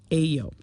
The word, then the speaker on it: AYO: I think it's supposed to be Ayo.